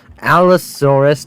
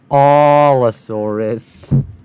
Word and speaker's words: Allosaurus: Fam, this is not how you pronounce the Allosaurus. Allosaurus, not Allosaurus.